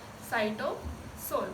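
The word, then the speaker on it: cytosol: इसकी स्पेलिंग है SYCYSOL। इसको क्या बोलते हैं, साइटोसोल बोलते हैं।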